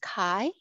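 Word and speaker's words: 海: the one on the top in kanji the japanese character is pronounced kai meaning ocean and the one at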